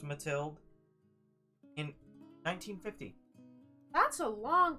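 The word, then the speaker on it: Mathilda: novel released called tilled I think it's pronounced matilde in 1950 that's a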